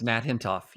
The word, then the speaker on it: Nat Hentoff: eventually became, I assume, a friend of yours, Nat Hentoff. Is that how you say his name? Yes, Nat Hentoff.